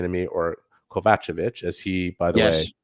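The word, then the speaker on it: Kovacevic: and Jonathan kovich was saying to me or kovachevich as he by the way confirmed that is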